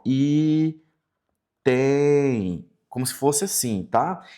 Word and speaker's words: item: Quando nós falamos assim, item, item i, veja que o m ele se transforma num i, ó.